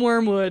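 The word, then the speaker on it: Wyrmwood: get on their website it's wormwood i think wormwood gaming perhaps and it's worms spelled with a y yeah w-y-r-m gotcha yeah so i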